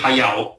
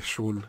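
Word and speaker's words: 駿: La maggior parte dei giapponesi lo chiamavano Miyazaki Shun, perché il kanji con cui si scrive Hayao si può leggere anche Shun, è della lettura più comune.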